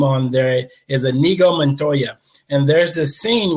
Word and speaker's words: Inigo: So the reason I say that is because a lot of people, when they mention the name, they normally say Inigo, but it's actually pronounced Inigo.